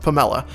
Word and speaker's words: PAMELA: It's spelled P A ML.A, but I'm pretty sure it's pronounced Pomela. And I don't know a ton about this game.